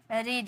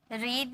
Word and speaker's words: read: should have read it, read नहीं read, इसकी pronunciation क्या बोलेंगे, रेड। भले हम लिखते हैं रीड, है ना, वर्ब की फर्स्ट फॉर्म लगता है ना, लेकिन शुड हैव के साथ वर्ब की थर्ड फॉर्म लगती है, तो इसे रेड में इसकी प्रोनाउंस करेंगे, इसे you should have रेड इट। ठीक है, रेड, कलर वाला रेड नहीं, इससे रेड में प्रोनाउंसिएशन की जाती है, रीड नहीं बोलेंगे।